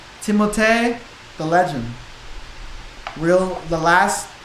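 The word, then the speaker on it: Timothée: Timote. But nobody everyone I never knew that. Everyone knows Timothy, but I heard somebody say the right way to say is Timote.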